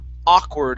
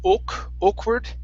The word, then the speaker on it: awkward: This word here is pronounced awkward instead of awkward. It's an ah sound.